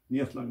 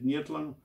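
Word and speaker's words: Neethling: is in lovely condition, Nietlin is the phonetic pronunciation of the surname. But in actual fact, the spelling is phonetic. It's not correct. It should be N-E-E-T-H-L-I-N-G. Nietlung. There are a couple of variations, but there's none like this N-E-E-T-L-E-N-G. As I said, Nietlung is how you actually pronounce it.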